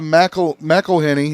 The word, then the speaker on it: McElhenney: Deadpool and Wolverine fans are convinced they know who Rob McElhenney, is that how you say his name?